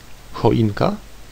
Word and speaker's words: choinka: There is a historical reason why some words are spelled with just H and others spelled with CH. An example word given, choinka, means a Christmas tree.